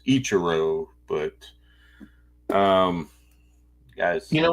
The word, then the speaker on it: Ichiro: my thoughts on Mr a Cho here we go mispronouncing names again it's Ichiro but um guys you